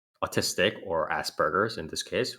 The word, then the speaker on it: Asperger's: asperger's chargers asperger or asperger's you're saying asperger's especially asperger's sorry is it jurors wait like gerbils i don't know gerber baby food okay let me let me it's aspergers it's a hard g it's it's asperger's yeah